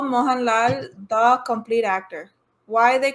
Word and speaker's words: Mohanlal: most which is this malalam why they call moan lal a complete actor.